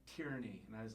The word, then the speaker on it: Tierney: And you're like, Tierney, and I was like, Tierney, and I kept saying it wrong. You're like, no, like tear and knee.